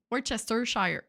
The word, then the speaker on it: Worcestershire: Worcester, tu sais c'est où, Worcester? Worcester. Ah, c'est ça, c'est Worcester. Oui, je sais que c'est en Worcester, Angleterre. Shire. Shire. Worcestershire. C'est facile quand tu le sépares.